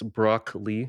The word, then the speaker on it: Br0cklee: the channel's it's Br0cklee, like the Well, look at the So- camera. yeah. For So it's them, like not for me. it's like broccoli, like spelled like BR0CKLEE.